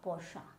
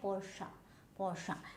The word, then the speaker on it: Porsche: Porsche nahi hai, Porsche.